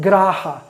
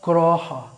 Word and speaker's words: graha: They use the Sanskrit word graha, which in Bengali would be pronounced groha, right?